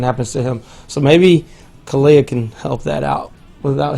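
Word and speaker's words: Kealia: How do you pronounce her name? Kalia. Kalia.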